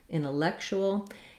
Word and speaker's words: intellectual: The stress in intellectual is on the third syllable, lek. Again, we have an vowel, red tent vowel, intellectual. And the C says the K sound here, and then this TU says a CH sound.